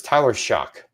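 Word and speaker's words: Shough: Um, I do think Tyler Shock, I looked it up. It's Tyler Shock. That's how we pronounce this.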